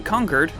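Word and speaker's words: Concord: miss but right after you head down to conquered yes that's how it's pronounced don't hassle me and help out Preston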